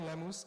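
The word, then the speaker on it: Lemose: What's Find me on Lemoose and it's but I spelled Lemus the way it's supposed to be pronounced. It's not. It's L E M O S E. Like a French moose.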